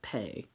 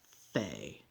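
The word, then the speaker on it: פ: of a mouth now with the dot the letter p is pronounced with a p pay or and without the dot it's pronounced fe with a with an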